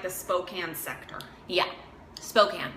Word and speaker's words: Spokane: Spokane, not Spokane.